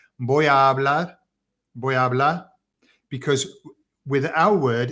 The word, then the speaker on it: hablar: they'll say voy a hablar, because with our word, if we pronounced hablar in English, we would say hablar, because we do any R word at the end.